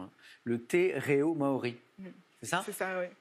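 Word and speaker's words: te reo Māori: Corrigez-moi pour la prononciation. Hein, le te reo maori.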